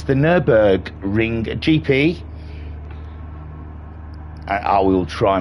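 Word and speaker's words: Nürburgring: nub ring it's the nurburg ring GP I I will try my best this evening to to pronounce Nurburgring correctly because it's so easy to say no boring so we'll try not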